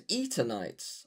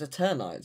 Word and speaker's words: Eternights: The Eternights Miracle Anti-Aging Drug is now set for its global launch tomorrow. I didn't think it was Eternights. I assumed it was Eternites, as in Eternal.